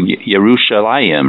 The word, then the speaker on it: Yerushalayim: And I would say, and I just love to pronounce it in Hebrew, Yerushalayim, right?